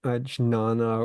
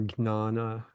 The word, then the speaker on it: jnana: Yeah, I mean, there's debate over whether you say jnana or gnana. I mean, some people like to say gnana.